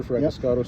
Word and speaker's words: Fragiskatos: I'm the in the neighborhood today on behalf of Peter Fiscato who's writing.